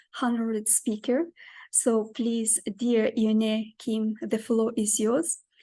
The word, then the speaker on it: Eunae: My name is Eunae. It's kind of hard to pronounce, right? Eunae Kim. It's like Renee, but take the R off. So it's Eunae.